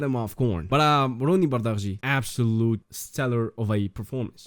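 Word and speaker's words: Bardghji: Everybody seems to mispronounce his last name. It's Bardi.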